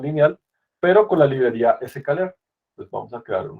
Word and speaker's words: scikit-learn: Bueno, yo no suelo decir SK, pero en realidad se llama SK. Así es que bueno, digo sklearn, pero creo que se escribe así.